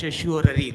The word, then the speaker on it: certiorari: This is C. though pronounced as Sheshurari, look like this, Sheshurari.